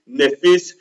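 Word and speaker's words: נֶפֶשׁ: or the Hebrew word nephesh, what does that mean? All right. Todayah. Yah is Tob. Very, very Tob. Okay. So the word soul in the Hebrew is pronunciated nephesh.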